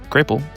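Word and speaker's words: grapple: Thankfully, in the matter of the grapel, pronounced grapel, both Shaq and Willow are correct.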